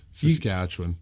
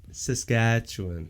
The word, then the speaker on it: Saskatchewan: Saskatchewan. Saskatchewan.